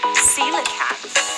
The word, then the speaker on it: coelacanth: Monkfish, caiman, coelacanth. Yeah, that's how you pronounce it, guys. Something fishy going on here. The creature in question is a coelacanth.